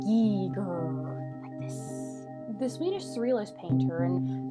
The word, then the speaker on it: Giger: be the work of one hr gear pronounced geeger the swedish surrealist painter